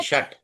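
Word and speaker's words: षट्: द्वे त्रिणी चतवारी पंचम ट षट ट नहीं षट षट सत अष्ट नव दश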